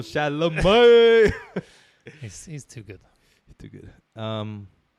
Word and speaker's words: Chalamet: Shout out to the 3-syllable Chalamet.